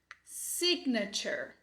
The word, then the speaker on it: signature: Tem o E de cabeça para baixo aqui, mas ele é o schwa. Ele representa o sonzinho Já vai emendar no R, Beleza?